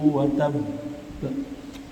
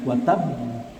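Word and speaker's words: وتب: Bacanya wa tab. Ada jeda berhenti sejenak, baru qalqalahnya keluar. Karena baknya itu double. Baknya itu double dengan tasdid. Jangan dibaca hanya watab. Watab. Kalau watab itu berarti baknya satu.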